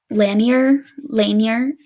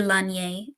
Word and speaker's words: Lanier: So I kept looking into it more, and I came across Lake, I hope it's Lanier. It's probably should be Lanier, like the French pronunciation, but I'm going to say Lanier, in northern Georgia.